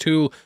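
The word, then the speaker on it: Thule: th station though I have been told it's pronounced tul which itself has its own meaning tul is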